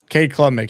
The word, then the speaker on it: Cade Klubnik: Cade Klubnik, yes.